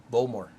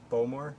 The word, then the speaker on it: Bowmore: you say it right bulmore bowmore yeah think like bow as in bow and arrow all right not a bowel yeah bulmer yep balmore